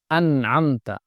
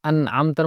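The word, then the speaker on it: أَنْعَمْتَ: ভর্তি হয়ে আওয়াজ হবে, আনআমতা। আমি আগে বলেছিলাম আনআমতার মধ্যে প্রথমত আছে হামজা, পরে আছে আইন, মাঝখানে আছে নুন। তো হামজা এবং আইন যখন পাশাপাশি হয় তখন অনেক সময় উচ্চারণ কঠিন হয়ে যায়, এজন্য খুব খেয়াল করতে হবে।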